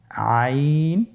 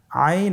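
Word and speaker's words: عين: আইন হরফটি উচ্চারণের সময় অবশ্যই 3 আলিফ টেনে পড়তে হবে এবং আইন হরফটি বারিক হরফ, পাতলা করে পড়তে হবে।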